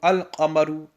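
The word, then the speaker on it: القمر: The lam will be pronounced. Hence here we see qaf is a moon letter. Hence we will read wal qamaru, al qamaru. Here we will pronounce the lam because a moon letter has appeared after the lam.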